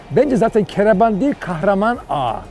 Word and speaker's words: Kahraman: Instead, it's called Kahraman. Because the letter "h" isn't pronounced in French.